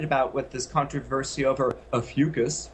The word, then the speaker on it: Ophiuchus: with this controversy over a fugus rhymes with mucus is that um it